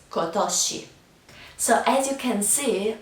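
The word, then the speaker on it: 今年: Japanese it is the same but it is pronounced kosi so as you can see all of these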